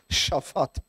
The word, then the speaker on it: Shaphat: And I know I'm pronouncing that correctly because I watched the Mr. Bean movie once. And instead of saying Susan, you say Shushan, okay? So based on that life skills, it's Shaphat, who was plowing with